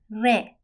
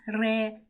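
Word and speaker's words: ر: we do not pronounce re rolling our tongue in Farsi, but instead the tip of the tongue strikes the front part of the roof of our mouth.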